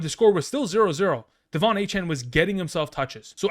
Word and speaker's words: Achane: interview with Peter King, Achane specifically said that that's how he wants his name to be pronounced. So going forward, we're going to be very mindful in the idea that that's how we're going to pronounce, not Achane.